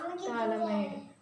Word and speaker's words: phthalimide: Phthalimide. P is the silent letter. Phthalimide.